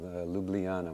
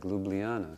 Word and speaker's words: Ljubljana: And I said, oh, that sounds like Ljubljana, so I should go